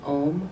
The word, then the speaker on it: om: at her forehead throat and heart three other syllables so at the forehead is a white ohm o m at the throat a red a